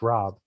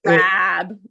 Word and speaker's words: Rab: No, it's not pronounced Rob. Oh, it's not? No, it's pronounced Rab. Have I said it wrong my entire life? Probably. Most people do. I don't correct them. So Rab.